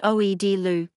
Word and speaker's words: Aghdashloo: 1992 The Playboys Tara Maguire Shohreh Aghdashloo, Persian, pronounced Oed-Lu, Eni Vaziri Tabar, 11 May 1952, is an Iranian and American actress.